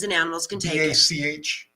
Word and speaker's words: Bach: BACH, that's how it's spelled. Bach. Bach, like Yes. Yeah. composer.